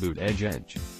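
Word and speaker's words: Buttigieg: of Notre Dame academics surname is pronounced loot edge edge would be first combat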